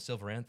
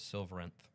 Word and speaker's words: Silveranth: Um, you could pronounce it Song of Silverth if you want, but I think the official pronunciation is Silverenth.